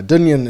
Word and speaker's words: Dungen: psychedelic rock band dunyan now dunyan is spelled d-u-n-g-e-n um and dunyan is